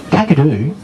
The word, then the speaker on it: Kakadu: nearly double that across northern australia airborne heads going from right to left huge wingspan gagadoo was actually a mispronunciation of another word gagashuku this morning to introduce